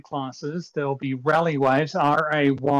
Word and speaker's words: Rayleigh: there'll be rally waves r-a-y-l-e-i-g-h like walter rally um and they'll be or rayleigh if you want to you know i guess i should use rayleigh since you guys are familiar with with that pronunciation um but uh yeah